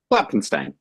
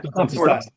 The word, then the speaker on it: Klopfenstein: Klopfenstein. Yeah. Klopfenstein. There you go. My fear is profound of pronouncing your name incorrectly, of the Littlest Man